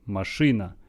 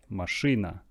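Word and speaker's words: машина: car ma Sri na machinae stress on a marsh Rina remember that this this e after shrew should be pronounced as a marsh Rina mush Rina the next one mum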